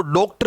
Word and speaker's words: डॉक्टर: ध्यान देना, कई लोग जो ठीक से उच्चारण नहीं करते वो इसको डॉक्टर बोलते हैं। डॉक्टर नहीं है, डॉक्टर।